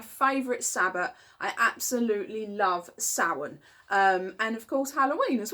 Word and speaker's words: Samhain: video today about the wonderful magical Sabbath of Samhain. Of course, it's spelt Samhain, in case you're wondering what I'm talking about. Yes, so it's my favourite Sabbath. I absolutely love Samhain.